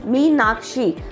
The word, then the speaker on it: Meenakshi: So like my name has got 3 syllables, Meenakshi, so you pronounce it like that.